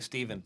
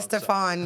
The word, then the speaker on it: Stefan: Paul Stefan am I I hope I'm pronouncing his name Paul Stefan yeah sounds I've been saying Stephen but uh I get all the names wrong Stefan yeah um so you